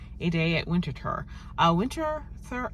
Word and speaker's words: Winterthur: Uh, Winter Thur. It looks like winter, but when I listened to the phone message, they said it winter winter. Um, so that's how it's pronounced.